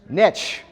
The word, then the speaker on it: niche: stay out of this how is that word pronounced nitch why my friends because niche rhymes with rich sorry I know other